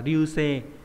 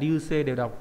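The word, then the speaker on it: 流星: Ví dụ các bạn có từ nagareboshi, và đây bỏ cái chữ d đi thì đọc theo kiểu âm gì nhỉ? Âm onyomi thì đọc là ryuse nhá. Nagareboshi hay là ryuse đều mang nghĩa là sao băng, nhưng mà cái cách đọc thứ hai là trang trọng hơn, ryuse. Nhưng mà cách đọc nagareboshi là phổ biến hơn.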